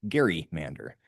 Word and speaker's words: Gerrymander: dubbed the redistricting a Gary mander. So I think we may have been mispronouncing that for quite some time now.